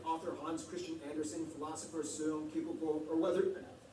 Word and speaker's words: Søren Kierkegaard: Hans Christian Andersen, philosopher Søren Kierkegaard, or whether, that's actually how you pronounce his name. Wow. It's not Soren Kierkegaard, or whether it be